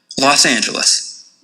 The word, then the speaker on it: Los Angeles: The official pronunciation would be Los Angeles.